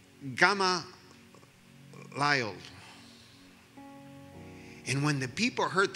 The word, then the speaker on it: Gamaliel: In Spanish, it's Gamaliel. I was asking my children, how do you pronounce it in English? And it's Gamaliel.